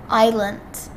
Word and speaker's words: island: The S is silent. Island. Island.